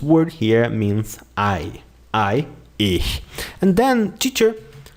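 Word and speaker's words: ich: normal we you get that with time touch pronounce it with me if if if if this word here means i i ish and then teacher how do i conjugate the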